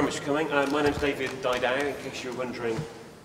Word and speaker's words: David Didau: My name's David Didau, in case you're wondering how to pronounce it.